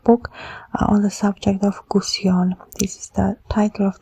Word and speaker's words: Gusion: We say, well, the name is Gusion, 3 syllables, number 6, 2, 3, 6, no?